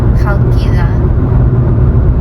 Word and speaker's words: Chalkida: We are getting much closer to Chalkida.